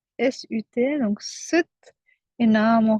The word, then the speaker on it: Sat: Donc Sat, et on le prononce Sut, S-U-T, donc Sut, et Nam, on relâche le ventre.